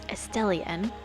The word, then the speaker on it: Estelian: So it's Estelian, right? So at first I'm like, okay, no, it's like Estelle, like the name Estelle, right?